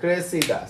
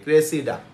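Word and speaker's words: Cressida: ক্রাই এটা হচ্ছে Cray একটা ক্রাই আরেকটা কি ক্রে উইলিয়াম শেক্সপিয়ার সবাই ঠিক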